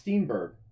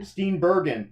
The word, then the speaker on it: Steenburgen: I think it's Steenburgen. Pretty sure on that one there. That's how you say it. Anyway. She is from. It looks fun. Steenburgen.